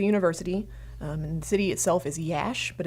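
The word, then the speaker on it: Iași: university at koozai University and city itself is yesh but it's spelled ia si so ia s is pronounced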